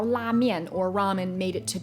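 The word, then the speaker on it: 拉面: But if you did in fact want to know how to say it in Chinese, it is la mian, la mian.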